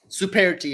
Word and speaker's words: Superti: Superti is how.